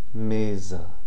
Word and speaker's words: mesa: S between a single S between two vowels is pronounced like a Z. Okay? Examples: coisa, mesa.